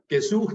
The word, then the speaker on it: gesucht: Yeah, gesucht Leader.